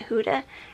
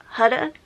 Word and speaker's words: Huda: intact, are these Huda, which I found out that I was pronouncing it Huda, but then I saw like this guy who went and visited Miss Huda, and that's how he said her name was Huda.